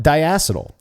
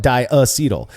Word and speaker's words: diacetyl: I call it diacetyl. And now here's the thing. I put the emphasis on the ass there, right? Diacetyl. You call it diacetyl. I believe diacetyl is also correct.